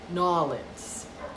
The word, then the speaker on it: New Orleans: How do they say it? New Orleans. That's how the locals say it.